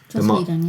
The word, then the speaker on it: Joss Whedon: because Zack Snyder had to leave, you had Joss Whedon. Did I say his name right? Joss Whedon, yeah.